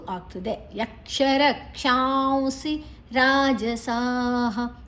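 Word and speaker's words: राजसाः: ಉ ಆಗ್ತದೆ ಯಕ್ಷರ ಕ್ಷಾಂಸಿ ರಾಜಸ ರಾಜಸ ದೀರ್ಘ ಅಕ್ಷರ ರ ದೀರ್ಘ ಅಲ್ಲಿ ಜ ಮಾತ್ರ ಹಸ್ವ ಸಾಹ ವಿಸರ್ಗದ ಉಚ್ಚಾರಣೆ ಹ ಪ್ರೇತಾನ್ ಭೂತಗಣಶಚಾನ್ಯೆ ಪ್ರಪು ಮತ್ತೆ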